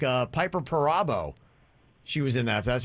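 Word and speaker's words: Piper Perabo: the people that were in it like uh piper parabo she was in that that's how you pronounce her name and she looks uh great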